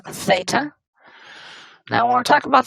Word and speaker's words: theta: That's just a Greek letter that is pronounced theta.